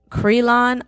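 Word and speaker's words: Cyreelon: he had someone from I think it's pronounced Cree lawn art that's @c y r ee l o n art and it's just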